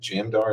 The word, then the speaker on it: Jamdar: Is it Jamdar? Is that how you pronounce it? It is.